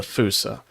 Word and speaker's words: fossa: Yeah, from what I'm seeing, Fusa is the correct pronunciation.